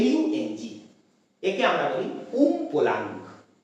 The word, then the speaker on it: Umpolung: পি ও এল ইউ এনজি একে আমরা বলি উম পোলাং উচ্চারণটা খেয়াল করো উমপোলাং যারা বাংলায় জন্য তাদেরকে উমপলা